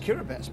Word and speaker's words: Kiribati: It's pronounced Kiribati, by the way.